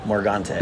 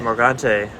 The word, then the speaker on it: Morgante: aaron how do you say your last name morgante morgante morgante from m2o we're going to talk about